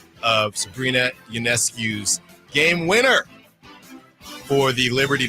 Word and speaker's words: Ionescu: Ionescu will heave and hit!